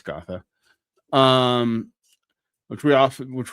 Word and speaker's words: Gotha: gotha critique excuse me always pronounce it like it's kerta it's not it's gotha um which we also